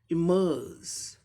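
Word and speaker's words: emerge: इमर्ज, इमर्ज, इमर्ज, ऐसा अ को थोड़ा लंबा करना, इमर्ज, इमर्ज, इमर्ज हो गया।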